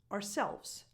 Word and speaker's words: ourselves: So ourselves becomes ourselves. Ourselves. Again, the first part, the first half of the word is just an R, as in the letter R in the alphabet.